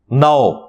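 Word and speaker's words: know: कई अल्फाज साइलेंट है के एन ओ डब्लू नाओ इसमें के साइलेंट होता है अब रूल के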